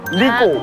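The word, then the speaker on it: 呢個: [Similar Pronunciation] Li Ge.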